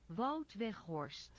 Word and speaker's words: Wout Weghorst: This is a Wout Weghorst. That's how I would pronounce it, but here's how it is in Dutch. Wout Weghorst. Wout Wout Weghorst. Wout Weghorst. Weghorst. There's a phlegmy in the GH.